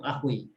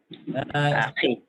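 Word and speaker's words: أخي: Akhui asalnya akhui. Cuma susah mengucap akhui. Orang Arab biasanya mengganti Akhi. sebelum yasuk itu kasroh. Maka bacanya akhi, ya. Bukan akhui tapi akhi, ya.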